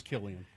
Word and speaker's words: Cillian: I just looked it up to make sure. It's Killian.